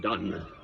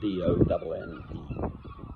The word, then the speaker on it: Donne: John Donne, Dean of St Paul's Cathedral. I may be wrong here, but I think 1550. May have been 1515, I'm not sure. Anyway. Donne spelled D-O-N-N-E. Don. It's pronounced Donne, John Donne.